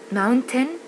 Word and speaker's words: mountain: Even last year I ended up hiking up Mountain Kilimanjaro, the highest mountain in Africa. حاجة في البرونانسيشن هنا mountain بتتنطق mountain، هتلاقيه دايما يقول mountain. accountant لسبب ما هما بينطقوها كده American بالذات.